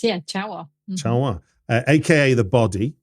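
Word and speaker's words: Ciało: 2003 to a film that I believe is pronounced Cha Wa. Is that right? Correct. Yeah, Cha Wa.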